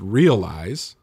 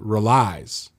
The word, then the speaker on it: realize: uh the word is realize but the guy pronounces it relies so he yeah he puts the inflection on the wrong part and and he doesn't